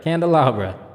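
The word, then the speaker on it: candelabra: on let me see let me see what it how it sound you hear that candleabra yeah okay I said it right candleabra nice a branched Candlestick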